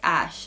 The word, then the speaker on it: Æ: zing is it X ash Archangel because a12 is this aircraft name something Archangel and then that letter is pronounced ash so you don't actually